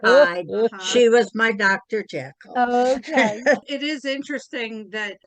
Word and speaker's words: Jekyll: and if you're going to go on Google, the pronunciation of it is Jekyll.